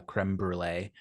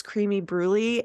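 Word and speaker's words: crème brûlée: it without a bunch of uh crem brulee all over it um excuse me it's creamy bruy and no that's that's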